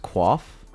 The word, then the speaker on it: coif: Learned a week ago it's pronounced quaff.